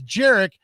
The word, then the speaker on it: Jarek: And he gave us the phonetic spelling, right, of the name. And look at the email in parentheses. He says Jarek, and then it says like Eric. Right, but I mean, I think because it rhymes with Eric.